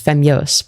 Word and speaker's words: Femyoz: You pronounced it wrong. It's Femyoz, but close enough.